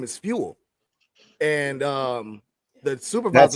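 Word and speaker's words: Feenwell: well it's it's spell it's spelled a little different it's f-e-e-n w-e-l-l it's like jewel but with an f oh okay he said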